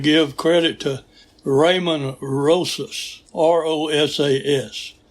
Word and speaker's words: Rosas: credit to Raymond Rosas, R-O-S-A-S. Now, I had pronounced it Rojas several weeks back, and Hans Lemmerman told me that was wrong. And he said it's Rosas.